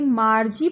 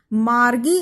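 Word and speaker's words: Margie: अब बच्चों एक चीज और बताएं, ये जो शब्द है मार्गी, कुछ किताबों में इसके बारे में मार्जी प्रोनाउंसिएशन लिखा है। मार्जी मुझे सही नहीं लगता क्योंकि ये जो जी है ये जी मोस्टली ग की साउंड देता है, जबकि जे जो है वो ज की साउंड में आता है। तो आई थिंक मार्गी इज अप्रोप्रिएट प्रोनाउंसिएशन।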